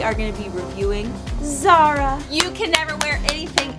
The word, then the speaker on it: Zara: You have to say it like that. ZARA.